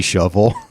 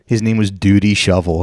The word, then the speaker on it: Shoval: His name was like Duty Shovel, and he was like going around. He was going around painting over Yeah, it's Shoval, and his name is spelled Dudi.